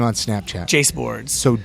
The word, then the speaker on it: Jaseboards: Jace Boards. So, J A S E Boards, all one word, spelled like bass boards, but with a J instead of a B.